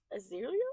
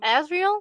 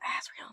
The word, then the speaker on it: Azriel: Um, the book of Azeriel. I feel like I'm saying it wrong. Azriel. Azreel. That's it.